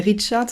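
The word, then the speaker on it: Reichardt: Carrie Richard, donc Carrie, comme ça s'écrit, mais Richard, ça s'écrit R-E-I-C-H-A-R-D-T.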